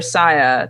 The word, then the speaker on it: Sia: Is it Sia or Saya? That movie Music that came out? Sia, yeah.